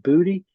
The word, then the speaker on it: Boutte: Her last name is spelled Beautae, and it's pronounced Booty. Didn't you just spell beauty?